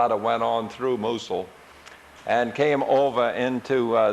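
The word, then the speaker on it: Mousehole: little town it's spelled mous hole but they pronounce it musul and the only thing I saw worth taking a picture of was this rock offshore so we just s of went on through musul and came over into uh this area we're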